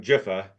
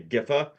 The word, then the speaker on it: Giffen: Um, and like I you pronounce his last name Jifa.